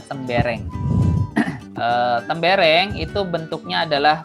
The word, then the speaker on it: tembereng: sedikit lagi selanjutnya ada tembereng namanya seneng bacanya tembereng ya mbereng bukan tembereng Mungkin ada yang nge-like sembarang tapi ini kita nyebutnya tembereng eh tembereng itu bentuknya